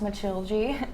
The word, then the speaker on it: Matilde: yeah, so my character Matilda, pronounced Matilde in Portuguese, she was hired by Lane to be her cleaning lady.